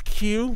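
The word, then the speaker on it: queue: are spelled stupidly, and one of them is Q, but like the line, and it's like Q-U-E-U-E, and it's like Q is actually just a letter, and then a bunch of silent letters, you know, just one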